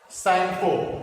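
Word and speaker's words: Tsangpo: river is known as Sangpo, जहां पे spelling जो होती है टी से शुरू होती है, SANG, Sangpo।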